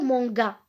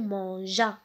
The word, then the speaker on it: mangea: Alors, on va écrire ici le E parce qu'on ne va pas prononcer le loup manga. Non, le loup mangea.